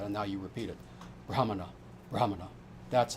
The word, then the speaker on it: Brahmana: If you're a Brahmana and that's how you say it, not Brahman. The British started saying that and now you repeat it. Brahmana.